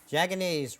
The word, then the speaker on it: Jaganese: Jaganese rhymes with mayonnaise.